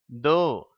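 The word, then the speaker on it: though: இஃப் என்ற உச்சரிப்பை பெறுகிறது அதை அடுத்துள்ள வார்த்தை தோ என்று உச்சரிக்கப்படுகிறது இந்த வார்த்தையில் ஜிஎச் என்ற எழுத்து எந்தவிதமான உச்சரிப்பும் இல்லாமல் அமைதி எழுத்தாக மாறிவிடுகிறது அந்த இரண்டு எழுத்துக்களுக்குமே செரிப்பில்லை இப்பொழுது நாம் வாசித்து பயிற்சி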